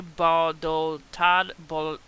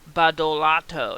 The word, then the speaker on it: Badolato: Bannon, Colfage, Andre Badoltad, whoa, this is really bad pronunciation, Badolato, that's a mouthful, and Timothy Shee are accused